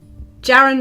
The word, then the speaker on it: Jaren: Jaren rhymes with Karen.